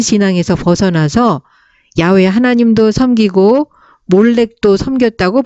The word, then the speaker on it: 몰렉: 벗어나서 야외 하나님도 섬기고 몰렉 섬겼다고 볼 수 있습니다 스발 와임 사람들이 섬기던 신의 이름이 아드람멜렉 아남 멜렉이라는 것은 원래는 신의 이름이 멜렉 있데 의도적으로 이스라엘 사람들이 몰렉이라고 발음하게 되었다는 그런 견해를 지지해 줍니다